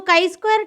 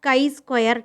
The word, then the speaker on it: chi-square: Okay, so chi-square test, it is pronounced as chi-square test, like this.